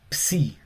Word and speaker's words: psi: Tenemos también después la psi. PSI como de psicológico, pero se pronuncia más la p. Es como decir psicológico. Psicológico.